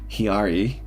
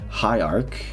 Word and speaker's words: hierarch: Instead of instead of saying hierarch, I actually said hiari instead of not saying like all this time I I didn't all this time I said the hiari but it but actually pronounces hierarch.